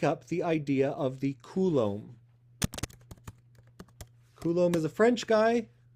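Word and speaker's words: coulomb: So instead, we make up the idea of the Kulom.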